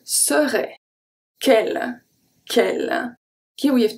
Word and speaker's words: serait: We don't need the T.